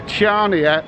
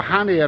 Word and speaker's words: Chania: on Ryanair, 1:35 p.m, bound for Chania, or Hania as I think they pronounce it, in the islands of Crete.